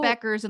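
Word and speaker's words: Paige Bueckers: Beckers and like the U.S.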